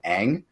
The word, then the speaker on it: Aang: so bad they like insisted on unpronounce it is name wrong when in the TV show where the source material comes from they call him Aang hey like it there's